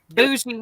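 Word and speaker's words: bourgie: Maybe she doesn't understand the word is French and the R is silent. It's bougie.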